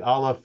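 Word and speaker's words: aleph: know Hebrew the uh the olive is a silent letter but still they would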